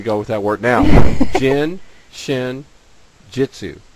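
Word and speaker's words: Jin Shin Jyutsu: around and he says the way you can remember how to say it is that if you drink too much Jin you might hit your shin and then you'll say a Jitsu okay got it so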